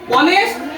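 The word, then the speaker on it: honest: clear হয়েছে ব্যতিক্রম আমরা কয়টা শিখছি বলছে অনেস্ট অনার যেখানে এইচ এর উচ্চারণ হয় না ইউনিটি ইউনিফর্ম যেখানে ইউ এর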